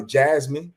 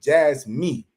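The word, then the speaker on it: JASMY: some of that uh Jasmine you know I have I keep pronouncing it wrong Jazz me Jazz me right me you know what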